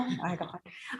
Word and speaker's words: Iglehart: I was like, is it Eagle? Iglehart.